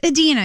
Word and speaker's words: Idina: up they give you a phonetic spelling David pronounce it Edina but Dena it's Edina yeah I mean it's close it's just you